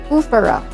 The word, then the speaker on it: foofaraw: It's not Foofaraw, but Foofaraw. Foofaraw.